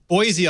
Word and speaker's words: Boise: Everybody outside of Idaho says Boise. It's With a Boise. Z, but it's Boise.